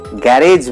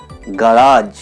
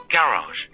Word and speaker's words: garage: এবারে এই ওয়ার্ডটার উচ্চারণ আমরা কি করে থাকি? গ্যারেজ বলি আমরা। গ্যারেজ বলবো না, তাহলে কি বলবো? গারাজ। প্রমাণ দাও। Yes, here is the proof. Garage.